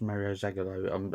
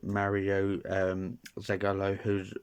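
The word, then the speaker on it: Mário Zagallo: Mario, I think he's actually pronounced Mario Zagallo. I think it's Mario Zagallo.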